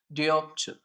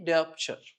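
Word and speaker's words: dioptre: So the unit SI unit remember the SI unit of the power is diopture. Okay. What is the SI unit? Pronounce with me. Diopture.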